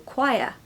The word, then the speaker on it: choir: now put them together Qui stress the first syllable okay that's really important chir chir the next